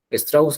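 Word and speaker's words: Lévi-Strauss: Strauss, creo que se pronuncia Strauss.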